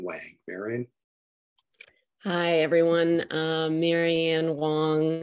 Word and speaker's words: Wang: Marianne Wang. It's spelled W-A-N-G.